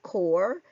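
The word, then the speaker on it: corps: Words like Illinois and core end with an s, but the s is silent.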